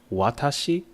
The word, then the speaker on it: watashi: english alphabet right now dogen explains that watashi right if you first look at this through the romanization you would think it's right where the hua is very pronounced wa right but then when you actually pronounce it in the japanese intonation the wah your lips kind of like spread out um horizontally a bit so the wah the hard w actually becomes kind of like a soft w